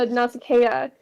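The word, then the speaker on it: Nausicaa: up to NASA yeah now that I know how to pronounce that because I've been saying NASA this entire um NASA now that ad is when adicus does walk up to nasaka he covers himself with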